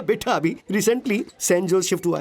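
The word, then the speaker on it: Sanjose: लेकिन इसमें जे साइलेंट रहता है। इसलिए इसे सैनोजे बोलते हैं।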